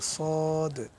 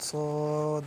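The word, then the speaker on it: صاد: তারপরে আছে আপনার সদ। জিহ্বার আগা, সামনের নিচের দুই দাঁতের পেট ও আগার সঙ্গে লাগাইয়া একটি হরফ উচ্চারিত হয়, যেমন সদ।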